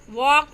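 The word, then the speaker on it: walk: First Wednesday में D, second sign में जी silent है, कॉम में बी साइलेंट है, नाइफ में के साइलेंट है, वॉक में एल और आवर में एच साइलेंट है।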